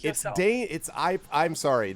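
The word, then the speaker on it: Dáin: Dane. I'm sorry. The BBC version tells me Dane.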